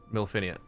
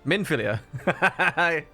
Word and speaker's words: Minfilia: again, and she's going to be like full-grown Milfinia. How do you say her name again? Minfilia.